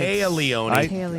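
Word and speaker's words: Téa Leoni: So pronouncing her name wrong is not a good start. Not a good Taya, start. Not great. Taya Leone. I would have gone with Tia, too, to be honest, but I heard her in an interview.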